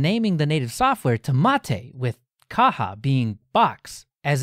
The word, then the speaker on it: MATE: desktop page was a quote the name mate pronounced mate comes from BBA mon a species of Holly